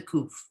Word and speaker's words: kuf: So this, the second letter in the word Hakadosh, this is a kuf. It always sounds like a K.